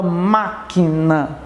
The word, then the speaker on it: máquina: São aquelas em que a sílaba tônica ela vai recair na antepenúltima. Antes da penúltima, né? Tem a última, tem a penúltima e tem a antepenúltima. Por exemplo, a palavra máquina.